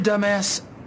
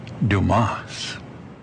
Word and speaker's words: Dumas: idiots like this guy Mr dumbass I can bring a lot to dumbass and dumbass I'm a go-getter dumbass material all the way so am I your man Mr dumbass the name is Dumas if you do know